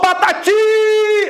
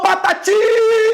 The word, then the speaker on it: Patati: tempos o Patati o Patati out o Patati Olha esse tipo ele se sobressai ele demora mais tempo sendo pronunciada Epa então ti é mais forte se a última é